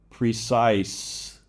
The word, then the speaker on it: precise: So that C becomes an S sound because of that E. Precise. So you need to be aware that sometimes this E on the end is still not pronounced, but it's not making the vowel before it long. It's just changing the sound of the consonant.